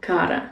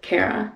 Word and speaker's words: Cara: For example, I usually say me llamo Cara instead of Cara, because Cara is already a word in Spanish, so the pronunciation is more like the Spanish pronunciation.